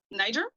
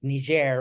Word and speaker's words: Niger: I've always wondered how it was pronounced. Niger? Yeah, because I heard some people say it's like Niger or something, like, so. Oh, but Niger.